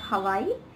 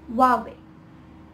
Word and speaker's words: Huawei: have heard of it and it is not hawaii it's huawei huawei huawei this brand it is oftenly mispronounced as mercedes when it should be mercedes